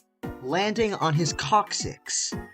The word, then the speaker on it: coccyx: landing on his coccyx not Cossacks but coccyx which is the medical term